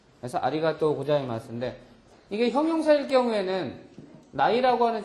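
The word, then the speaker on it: ありがとうございます: 근데 이것이 고자이마스가 오기 위해서 이것이 아리가타이의 타가 오바음으로 바뀌면서 우 발음이 생기는 거거든요. 그래서 아리가또 고자이마스인데 이게 형용사일 경우에는 나이라고 하는 조동사가 와서 부정의 의미를 가지려면 이 어미가 어떻게 변해요?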